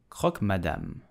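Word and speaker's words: croque madame: poached or fried egg so how do you pronounce it correctly you will say madame Croc madame Croc madame did you know that the [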